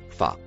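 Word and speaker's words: فَ: La lettre en rouge au début du mot en couleur marron se prononce fa.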